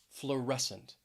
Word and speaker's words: fluorescent: next is fluorescent fluorescent stress is on that second syllable fluorescent if you work in